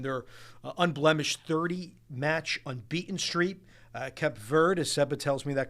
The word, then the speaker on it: Cape Verde: Cape Verde, as Seba tells me that correct pronunciation.